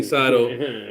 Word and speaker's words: Cydal: My name is Cydal, and I'm American Idol, and that's my title. That's what I say. You know what I mean? Cydal, like American Idol, and that's my title.